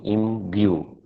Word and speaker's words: imbue: Remember, this sound is not j, it is y. Im, b, y, u. So that's the y sound in between. Imbue, 2 syllables. Im is the first syllable, bue is the second syllable.